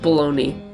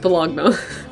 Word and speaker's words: Bologna: It's pronounced baloney. No. Luigi Galvani is an anatomist in Bologna, and he... It's pronounced Bologna.